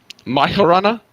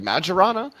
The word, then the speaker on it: Majorana: pronounce it is Myron my horana like more of an H sound or a y sound okay okay see I